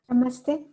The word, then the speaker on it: Namaste: Namaste.